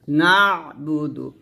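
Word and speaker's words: نَعْبُدُ: বু দাল পেশ দু না বুদু এখানে বা পেশ বুতে টান হবে না দাল পেশ দ্রুত টান হবে না তাড়াতাড়ি পড়তে হবে নাবুদু নাবুদু এরকম একসাথে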